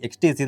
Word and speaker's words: XTZ: என்ன பிராண்ட் பார்க்க போறோம்னு பாத்தீங்கன்னா XTC சோ இத நம்ம பார்க்கும்போது பாத்தீங்கன்னா XTZன்னு நம்ம படிக்க முடியும். பட் உச்சரிப்பின் படி XTC தான் நம்ம சொல்ல முடியும்.